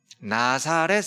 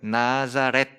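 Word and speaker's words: Nazareth: 나사렛 사람이에요. 그래서 영어 발음도 거의 비슷해요. 나자렛. 영어 발음이 나사렛, 우리말로는, 영어로는 나자렛 그럽니다.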